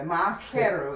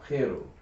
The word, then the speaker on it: Ma'akeru: So it's, or Keru, so Ma'akeru is the hard K sound. Ma'akeru.